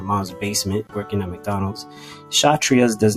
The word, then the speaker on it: Kshatriya: Right underneath the Brahmin caste is what's called the Kshatriya. That K is silent. So the Kshatriya are known as the warrior class.